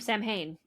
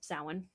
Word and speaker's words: Samhain: reminds me a little bit of Samhain, of Samhain, as a lot of people would pronounce it, but it's Samhain, right?